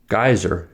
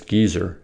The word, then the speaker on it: geyser: but fragile in America geyser is pronounced as gizer in England but Geyser in America oi and finally we